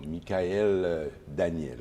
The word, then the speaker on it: Michaëlle Daniel: Est-ce que j'ai bien prononcé le nom, Michael Daniel?